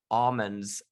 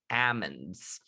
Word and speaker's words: almonds: i will s i will sometimes still say the word almonds the right way which is to say the local way ammons according to chico's newspaper the enterprise record according to webster's dictionary either pronunciation is acceptable they even report that